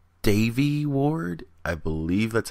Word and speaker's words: Devi: always want to say Debbie I her name is spelled D eevi uh but I know the V is pronounced like a b or the E is pronounced like an a I think that's what